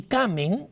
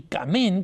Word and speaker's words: Kamen: Más recientemente, todavía están vivos, tenemos Henry Kamen, o Henry Kamen, como deseen pronunciarlos algunos, que es autor de un libro muy importante, se llama The Spanish Inquisition, A Historical Revision.